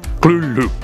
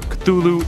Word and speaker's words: Cthulhu: It should be noted that Lovecraft originally intended the name to be pronounced closer to Cthulhu, because it originates in an alien language that can't be properly spoken by humans. However, the easier form, Cthulhu, is more prevalent, so